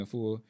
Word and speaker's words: Afua: I was listening at 19 Keys and Queen Afua. Mm-hmm. I may be saying her name wrong. It's right. Okay, Queen Afua.